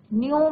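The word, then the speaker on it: knew: और मुझे पता था, न्यू means second form of the verb no, के साइलेंट रहता है बच्चों ये ध्यान रखना, के साइलेंट है न्यू, तो नो न्यू,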